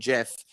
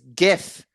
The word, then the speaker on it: GIF: conversation of the day it's gif i know the guy that created gifs said they're pronounced gifs but it's the g stands for graphics it's not giraffix like